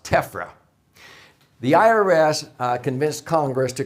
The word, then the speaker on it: TEFRA: It is an acronym pronounced TEFRA.